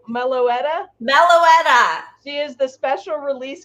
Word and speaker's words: Meloetta: want to call her melody all right that's fine but that's not how you say it it's milo meloetta she is the special